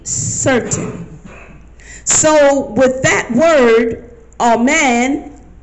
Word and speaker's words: amen: so with that word amen it's what actually pronounced from the scripture but it sounds like phonetically all main as in a horse's mane so all and main